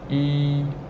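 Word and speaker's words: 一: And it's pronounced E, E. So we have this E as a with no, this syllable has no initial, so we have to add a Y there, and it's first tone, so we have this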